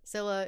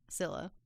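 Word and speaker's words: Scylla: choose between Kibbus or Sila is how we're pronouncing it in the show.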